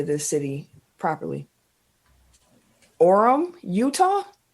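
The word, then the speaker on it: Orem: say this city properly Orum Utah o r m Orum Utah Orum welcome orm orm number one that's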